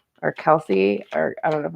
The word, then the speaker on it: Kelce: So Kelce, thank you. That's what I thought. I just didn't want to pronounce it wrong.